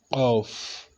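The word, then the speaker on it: قاف: We call it Off. Off is with Q. Off. Something like that. So this off, we're just going to make the inner part of your throat pronounce it off.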